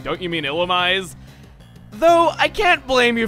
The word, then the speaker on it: Illumise: And before we go onward, yes, the pronunciation is what I am going with. The anime and Pokedex 3D Pro will back me up on this.